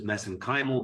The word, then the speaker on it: mesenchymal: And of course, you study uh MSC stem cells, which I pronounce as mesenchymal because that's how they pronounce it in Ireland.